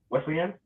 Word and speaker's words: Wesleyan: Wesleyan?